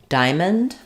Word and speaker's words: diamond: great example again of if I look at how this is spelled I might think like diamand or are Dia Dion that's hard to know from these vowel letters what sounds we have here but in American English we basically say just two syllables not D but rather just D with the I dip Fong stressed on this syllable and then the O